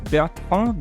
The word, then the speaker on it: Bertrand: And I can say Bertrand because Bertrand is a French name from origin, correct? Absolutely. You're the only person that's ever pronounced it right on the first go-around.